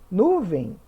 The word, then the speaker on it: nuvem: leva acento agora nuvem nuvem a sílaba tônica é o vem então é uma oxítona terminada em ele não leva acento repórter sílaba tônica é